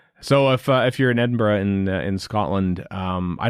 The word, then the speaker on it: Edinburgh: notice how we pronounce Edinburgh not Edinburgh just so you know there are folks Americans that's how you pronounce Scottish places you pronounce them how the Scottish people pronounce them well I'm not saying